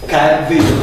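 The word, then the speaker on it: Caerdydd: Кардин. Це читається як «в» англійське.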